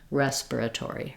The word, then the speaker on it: respiratory: can just stick with five syllables in American English respiratory respiratory respiratory anytime there's multiple R's like um at the beginning and more than one r in the middle it can be challenging to say that word just go slowly syllable by syllable then speed up and once you have